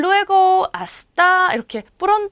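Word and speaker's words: hasta: 아직도 여러분들 익숙하지 않죠 아스타 를 보고 하 스타라고 읽으신 분 있을까요 스페인어에 흐 소리를 내는 것 j 하고 지에 특수 케이스에서 이제 해시 발음만 이렇게 그 소리가 났었죠 아시 달 외고 아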